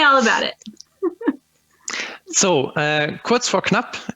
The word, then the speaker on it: Kurz vor Knapp: about it so uh quotes for club as we germans would like to pronounce it is basically a measuring